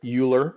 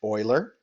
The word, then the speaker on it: Euler: and that's his last name it looks like Euler or something like that but it's actually pronounced Euler so if you ever hear of Leonard Euler you'll we that's what we're talking right now